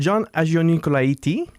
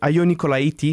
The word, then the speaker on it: Agionicolaitis: Ben, c'est John Agionicolaiti. Ah, T, il n'y a pas de T, S, le T. on le prononce pas souvent, le S. est muet. Le S est muet. muet. Ah, c'est bon à savoir. Agionicolaiti, c'est vraiment la prononciation.